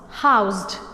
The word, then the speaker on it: housed: So we will read it as what? With Z sound. So what is the pronunciation? House, housed.